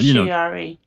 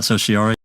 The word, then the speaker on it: certiorari: Well, Certiorari. Yeah, certiorari. is that how you pronounce that, Sociari?